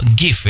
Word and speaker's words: GIF: Dan salah satu penemuan terpenting di era internet yaitu GIF ya. Bacanya yang bener GIF sih, tapi gue tetap lebih suka baca GIF.